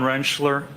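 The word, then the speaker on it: Rentschler: Could you please state your name for the record and spell it? Uh, Dr. Wrenchler.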